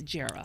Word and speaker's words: Jera: reporter named Jera Stapleton, a lot of people don't know how to pronounce her name. It's short for Geraldine, but it's Jera.